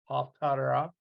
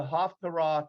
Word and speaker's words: Haftarah: And it is pronounced different depending on if you're Sephardic or if you're Ashkenazi. I pronounce it an Ashkenazi style because that's the way I was taught, Haftarah. But Sephardic is Tararh, Haftarah. Little bit different pronunciation.